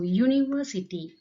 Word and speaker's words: university: Here also university. Okay, not a R sound. U sound is coming here.